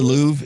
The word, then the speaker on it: Louvre: what it is the louvre in in france right yes it has an r at the end but you don't pronounce it or an e at